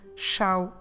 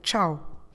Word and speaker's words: ciao: adios or ciao sometimes you might get a more portuguese pronunciation xiao instead of ciao adios ciao ciao they're